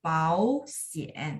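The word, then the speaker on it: 保险: Dia kan 3-3. Jadi ya huruf pertamanya jadi nada 2. Pau sien ya. Pau sien.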